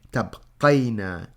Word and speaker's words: تبقين: We actually mark a sukoon over the ya, and we pronounce this as أنتِ تبقين.